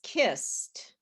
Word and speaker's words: kissed: yelled at her so which of the words sound like alicia right this one okay what else he is yeah okay anything else so this is wished and this is kissed now one of the